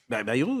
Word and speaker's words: Bayrou: Avançons s'il vous plaît, monsieur Bayrou, qui était hier vous l'avez bien prononcé. Bayrou, oui, j'ai dit...